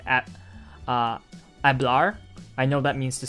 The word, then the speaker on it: hablar: for like at uh hablar i know that means to speak and it's h-a-b-l-a-r but uh because the h is silent i suppose it just